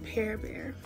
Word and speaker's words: Parrbear: by pe bear um I know it's spelled par bear but I pronounce it pear bear and I'm so excited